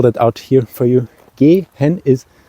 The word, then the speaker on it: gehen: let me spell that out here for you g hen is spelled g e so the English e I'm